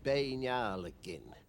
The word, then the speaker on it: Beinn Alligin: The Gaelic pronunciation would be Beinn Alligin.